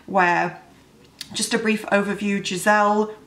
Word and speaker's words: Giselle: just a brief overview, Giselle, I'm gonna say Giselle because that's the name I'm used to, but it could be pronounced Gazelle, is a kind of a village girl.